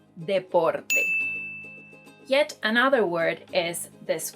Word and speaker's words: deporte: La natación es mi deporte favorito. Swimming is my favorite sport. So, if you were thinking that this word is pronounced deporte because you thought it was somehow related to